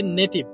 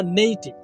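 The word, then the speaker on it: native: আমরা অনেক সময় বলি হচ্ছে নেটিভ, শব্দটা নেটিভ না নেইটিভ, দুইটা সিলেবল আছে এখানে, ভেঙে ভেঙে আপনারা বলবেন নেইটিভ নেইটিভ।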